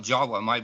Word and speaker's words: Java: But actually that name in Dravida is spelled J-A-V-A in Dravida, but it's pronounced Jawa, just like you do.